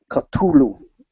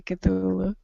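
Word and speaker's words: Cthulhu: Lovecraft people will do the proper lovecraftian pronunciation of culu um which is very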